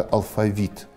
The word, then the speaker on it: алфавит: позднем византийском варианте архаического ударение на второй слог в слове а алфавит точно соответствовало греческому произношение apprentice современном русском языке ударение на последнем напал на последнем слоге появилась приятно под влиянием французского варианта произношения этого же слова давно